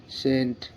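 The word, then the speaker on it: scent: না এখানে যেমন এস সি ই এন টি সেন্ট এস সি ই এন টি সেন্ট মানে সুগন্ধ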